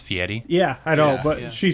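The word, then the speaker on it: Fieri: the other day guy ferrari a guy for diners drive and die you know it's actually pronounced fiery yeah i know but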